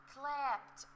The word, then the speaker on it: clapped: Before the letter D, we should pronounce the letter D such as T. T. طيب, see with me, what are these verbs? إيه هي الأفعال دي? Repeat after me. Clapped.